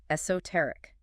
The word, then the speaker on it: esoteric: Number 8, esoteric. Esoteric. Emphasis. Stress on the third syllable. Esoteric. Esoteric. 4 syllables.